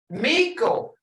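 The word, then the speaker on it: mekko: Miko. Chief as in English mouse. How in the world? Miko, but listen, Miko is chief mouse. Hear it? Miko, mouse. It's more prominent.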